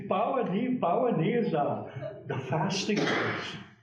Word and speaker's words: Pawnee: And there again, anthropologists, Pawnee, the Pawnee. They can't pronounce it. Supposed to be Pawani.